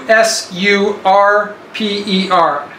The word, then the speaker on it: usurper: r p e r the word surprise s r p e r like so you flip it over to usurper usurper usurper um am